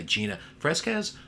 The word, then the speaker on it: Fresquez: Today, we're being joined by Gina Fresquez, author of Women Who Influence.